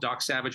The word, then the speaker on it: Dok Sauvage: And ours is called Dok Sauvage. We spell it differently. It's Dok with a K, so it's D-O-K. and it's Savage with a U, or Sauvage.